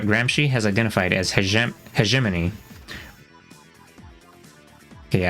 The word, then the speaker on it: hegemony: has identified as he heiman okay I think that's how you pronounced it Heim not hemony but I guess I could say it either way an indispensable concept for